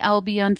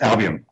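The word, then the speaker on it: Albion: as Captain on the albon ferry did I pronounce that right pretty close oh what is it then well we just albian albian there you go yeah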